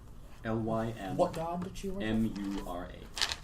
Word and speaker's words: Lymura: which is Lymmura. L-Y-M. Lymura.